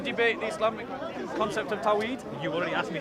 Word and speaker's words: Tawhid: Do you want to debate the Islamic concept of Tawhid? You already asked me. It's Tawhid. Do you want to debate it though? It's Tawhid. Yeah, pronunciations apart.